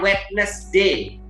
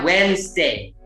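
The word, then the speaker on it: Wednesday: ada sering kalah ya ada yang sering bilang wetness Day Harusnya whensday whensday bukan weakness day ada yang bilang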